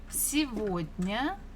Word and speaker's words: сегодня: And we're going to answer with сегодня, сегодня. You're not mistaken. The third letter is G, but this is a special word, so we can pronounce this G as V. Сегодня.